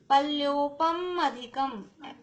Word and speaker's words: पल्योपम अधिकम: पल्योपम अधिकम तो म पे जोर लगता है तो अ सुनाई देता है, साउंड उसमें से अ का आता है। पल्योपम अधिकम ऐसे बोलेंगे।